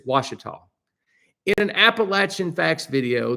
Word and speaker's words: Ouachita: They are pronounced Ouachita by the locals there, and you should pronounce an area, a place, the way the locals pronounce it. And there in Arkansas, they say Ouachita.